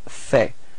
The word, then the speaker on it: fait: So il fait. Same pronunciation, so final T is not pronounced.